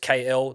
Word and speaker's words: KL: It's just KL. That's how it's pronounced.